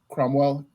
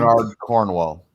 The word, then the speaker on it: Bernard Cornwell: But that you mentioned back to the Sergeant in the Sharps series by Cromwell, I think is how you say the author's name. Bernard Cornwell.